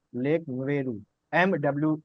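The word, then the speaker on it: Mweru: एक लेक है लेक मेरू। उसकी स्पेलिंग नोट कर लीजिए।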